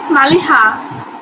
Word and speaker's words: Maliha: Your name is Maliha, right? Yes, ma'am, your pronounce is correct. My name is Maliha.